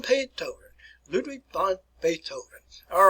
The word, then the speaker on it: von: And if you can there, you probably should pronounce it properly as Ludwig von, remember the F pronunciation, Beethoven. Ludwig von Beethoven. Ludwig von Beethoven.